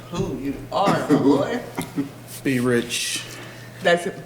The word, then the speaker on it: B R$CH: Be rich. That's it, B as in boy.